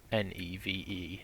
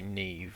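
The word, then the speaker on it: Neve: to Neeve n sorry I keep saying that wrong in my defense it is a somewhat unusual way to pronounce NE V Nev I would have thought it would be Neeve although yeah it doesn't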